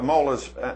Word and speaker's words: molas: So, you've got some other magnificent, these molas here, I believe you pronounce. Yeah, molas.